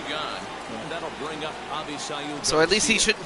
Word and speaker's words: Avisail: I didn't know how to pronounce his name, but Avisail Garcia, okay.